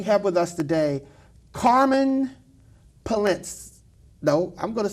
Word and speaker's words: Poellnitz: This way I could try to pronounce it better. Carmen Poellnitz. Poellnitz.